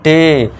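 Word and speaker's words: day: फिर देखिए sixth rule जब किसी वर्ड में ए के बाद वाई आए तो ए को आपको नॉर्मल ए का साउंड देना है। ठीक है दोस्तों नॉर्मल ए का अब देखिए ए के बाद वाई आ गया तो इसे क्या पढ़ेंगे डे देखिए अब डे ड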